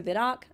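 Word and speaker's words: Vidocq: the docu's name is pronounced without the Q so vidoc okay oh like I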